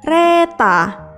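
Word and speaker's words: レター: Berikutnya adalah gambar dengan tulisan letter atau dalam pelafalan bahasa Jepang adalah reta.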